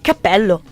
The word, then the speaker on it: cappello: Cappello e capello. Ok, I give up. Mi arrendo. Non capisco. Allora, il plurale... Cappelli o capelli. Ok. Alright, lo dici tu. Due P, una P.